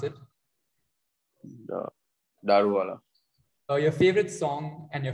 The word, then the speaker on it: Daruvala: What is the correct way to pronounce it? Daruvala.